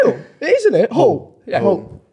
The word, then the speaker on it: Hall: Ronald Arthur Hill. Wait, is it Hill? It is, isn't it? Hall.